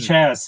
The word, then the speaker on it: Chas: I always get his name wrong. It's Chas, Chas.